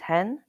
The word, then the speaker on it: ge: The letter G is called he in Spanish.